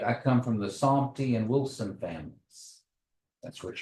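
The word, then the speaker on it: Saumty: We're all the same bunch, but Grandma Lucy Somty and all them, they said there's no P in there, Okay. it's T-Y.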